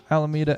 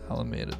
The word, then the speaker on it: Alameda: Is it Alameda or Alameda? It's Alameda. Alameda. I mean, you got to correct me on my California pronunciation. I mean, the English pronunciation is Alameda. However, if you're approaching it from purely a Spanish accent, it's going to be Alameda.